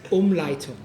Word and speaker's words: Umleitung: Umleitung. I didn't know German and Cantonese is similar. Umleitung, huh? It's actually pronounced Umleitung. Like That's what I said. Umleitung.